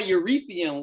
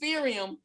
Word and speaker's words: Ethereum: of everybody talking about urethium whatever the hell that is sirium yeah eureka uretha i'm gonna need you to pronounce these words correctly what is it ethereum i'm gonna need you